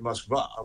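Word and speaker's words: Москва: If people started calling it Moskva, which is how it's actually pronounced in Russian, everyone would say, "Where is that?"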